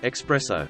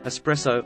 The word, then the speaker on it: espresso: advocate constantly no thanks they pronounce the word expresso when they mean espresso or especially instead of